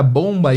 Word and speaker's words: bomb: E aqui é o seguinte, a palavra bomba em inglês é B-O-M-B, só que esse B é mudo, então fica bomb. E bombardeio vai ser bombing, ok?